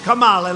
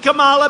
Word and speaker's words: Kamala: kamala you know if you pronounce her name wrong she goes crazy kamala like a comma it's like a comma